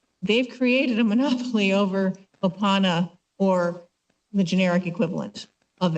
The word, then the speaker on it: Opana: With Opana, is that how you pronounce it? Opana.